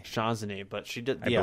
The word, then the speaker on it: O'Shaughnessy: I can't still pronounce her last name. Colleen O'Shaughnessy. O'Shaughnessy, but she did.